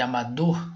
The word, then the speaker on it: amador: poder falar Tá ok se você falar amador você vai observar que a palavra mais o sílaba mais forte de amador é a dor pode ver